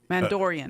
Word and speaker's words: Mandalorian: Mandalorian.